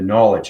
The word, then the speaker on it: knowledge: Now, when you come up to that understanding, the knowledge, okay, K is silent, right?